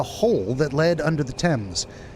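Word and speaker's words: Thames: After scouting around the city walls, I found a hole that led under the temps. That is how you pronounce that, by the way. Tames, not things.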